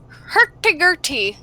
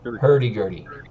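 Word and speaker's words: hurdy-gurdy: book and the other one um with a hercule on her back did i say it right hurdy gertie ah hurty gertie but yes with a hurdy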